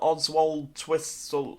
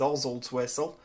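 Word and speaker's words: Oswaldtwistle: But we're going to be going up to Burnley, Oswald Twistle. That's how you pronounce that. It's not Oswald Twistle, Oswald's Whistle, or whatever it is. It is Oswald Twistle, because there's a place nearby called Church, and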